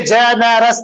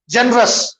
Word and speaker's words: generous: If you say generous, 3 होते हैं, वैसा नहीं पढ़ते इंग्लिश में। Generous, generous, जैसा हम बोलते